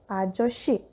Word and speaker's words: 아저씨: One more thing to note, if shiot and sang-shiot are followed by the vowel e, they become sh in pronunciation, like our previous example, 맛있어요, and another example, 아저씨, which means old man.